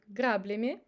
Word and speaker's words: граблями: Also, we can observe that we pronounce ya as e in word граблями, граблями. And the last time, краб крабу сделал грабли, подал грабли крабу краб.